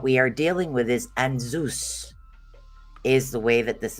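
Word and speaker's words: Ansuz: So what we are dealing with is Anzus, is the way that this is pronounced. Ansooz, and Zeus is the way that it's actually pronounced.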